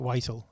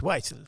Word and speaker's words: Whittle: Yeah, you're not going to say it posh like Whittle, are you? No. It's Whittle, do you mind?